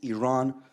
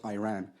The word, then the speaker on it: Iran: the Iranian people but you're pronouncing a country's name wrong a country is named Iran not Iran please once and for all let's get this